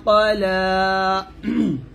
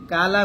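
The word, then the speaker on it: قال: মা ওয়াদ্দাআকা রাব্বুকা ওয়া মা ক্বালা। এখানে আমরা একটা উচ্চারণ ভুল করি, সেটা হচ্ছে কালা বলি, কফের উচ্চারণ কা বলে ফেলে, এটা ভুল করবেন না।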